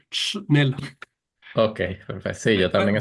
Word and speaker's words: Schnell: Nosotros en la familia en Venezuela decíamos que había que decir Nel.